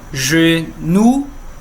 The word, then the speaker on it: genou: Genou, genou no singular e no plural, mesma pronúncia.